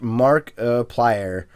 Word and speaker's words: Markiplier: for the longest time I think it's pronounced mark applier sometimes it sounds like markup alarm or more clear that's what you get